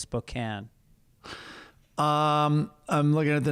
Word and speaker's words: Spokane: i i send you i say spokane like a lot of people but i found out it's now it's spokane um i'm looking at